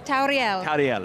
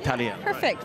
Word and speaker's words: Tauriel: It's Tauriel. Tauriel.